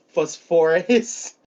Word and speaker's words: Phosphorus: Fasor uh, phos- phosphorus.